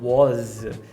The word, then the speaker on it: whose: do IPI para é apesar da palavra whose ser escrita com s a pronúncia é sempre mais voltada para o z é que a gente